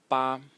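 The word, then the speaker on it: 八: It is pronounced ba, ba.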